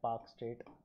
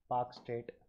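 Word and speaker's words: Palk Strait: यहाँ पे कच्छ तीवू आइलैंड है, ये पाक स्टेट का रीजन है, पाक स्टेट, एल साइलेंट है, पाक स्टेट, ठीक है।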